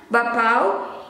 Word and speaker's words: bakpao: And now this one, bakpao. In Indonesian is bakpao, bakpao. Sometimes we pronounce this one with U. It becomes bakpao, or we don't pronounce the K letter, it becomes silence.